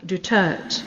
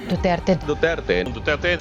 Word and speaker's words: Duterte: IC in the hag pronouncing former president Rodrigo Roa du's surname as duur Mr duur Mr DS Mr du rather than the Spanish Filipino way which Filipinos do which is du du Philippine president Rodrigo duterte